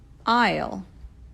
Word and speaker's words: aisle: of books are displayed there isle i know it looks nothing like it isle coffee and tea are